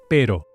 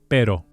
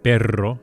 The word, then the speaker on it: pero: And the word for but is pero. Pero. Again, here we have a light single flipped R, pero. Be careful not to roll the R, perro, as this means a dog.